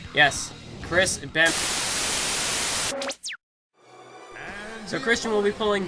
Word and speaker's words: Benoit: People have been, there have been some people who have been very frustrated that I haven't been pronouncing his name right. Yes, Chris Benoit.